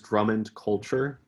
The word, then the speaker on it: Drummond Culture: saying it wrong yeah so my name is drummond culture uh culture is kind of an additional part